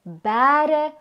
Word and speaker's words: bêre: Omdat die letter E 'n lang e klank voorstel, hoef ons nie 'n kappie te gebruik nie. As ons egter wil wys dat die letter E in so oop lettergreep wel 'n gerekte klank aandui, moet 'n kappie bo-op die letter E geplaas word. Gevolg spreek ons die woord uit as bêre of as.